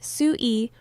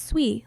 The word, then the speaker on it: SUI: And for SUEI, it's simply called S UI, pronounced SUEI or just SUI, like the chain.